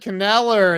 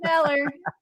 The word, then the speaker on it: Kneller: Chad Kneller is in the house. Chad! I love Chad. Chad like Knife. That's how you say his name. That's right. Chad Kneller.